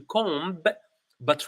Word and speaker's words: comb: O Okay com and we don't pronounce the b we don't say to com but rather to comb the hair perfect perfect